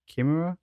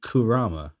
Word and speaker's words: Kurama: What did you say? Master who? Kimura? I don't know how to say the fucking fox boy's name. Oh, you mean Kurama, right? Yeah, Kurama, that's it.